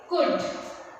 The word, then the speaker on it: could: The next one is could. See, we also won't pronounce L.